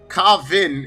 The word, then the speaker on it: Kvaan: here we go y'all kavvin Kavin is the name of the band that's how you pronounce it there listener ha ha Finn